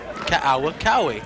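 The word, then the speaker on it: Kaukaui: If you ever been to Hawaii, you have to pronounce every vowel of a person's last name. For example, this is spelled K A U K A UI. Kaokawi.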